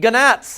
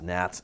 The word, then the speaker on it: gnats: because they eat gannats, and there's lots of gannats. That's the Canadian pronunciation of that. I know it's gnats.